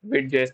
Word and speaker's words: Vite: Vite is a French word which means a quick, pronounced just like Vite, and is built tools